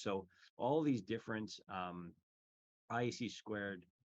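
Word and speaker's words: (ISC)²: all these different um IC squared uh which is just how you pronounce the organization name um the ISD squared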